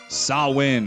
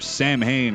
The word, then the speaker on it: Samhain: The November coming fire, the festival of Samhain or Samhain, or whichever way you prefer to pronounce it.